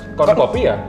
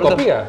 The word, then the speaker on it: Konkopia: Ini Konkopia bacanya gimana, Mas? Konkopia? Betul sekali, Pak. Bapak kalau tahu. Betul, betul, betul. Konkopia gitu.